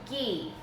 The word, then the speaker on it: ghee: You can do ghee. You can do unsalted butter at room temperature. Those would all totally work fine. There's actually a brand called Fourth and Heart, and they have a vanilla ghee, which I think would be amazing.